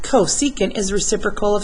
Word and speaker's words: cosecant: else is negative so I know that CSC pronounced cosecant is reciprocal of s so the Cs C